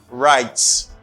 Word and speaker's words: write: He also writes. Write, the verb to write. W doesn't pronounce in this word.